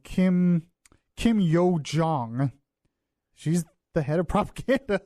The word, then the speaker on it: Kim Yo-jong: I keep getting her name wrong. Kim Yo-jong.